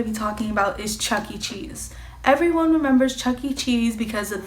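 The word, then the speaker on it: Chuck E. Cheese: it both ways but the first way I did say it was Chuck E cheeses and I was told that I'm saying it wrong and that it was Chuck-E-Cheese but I do want to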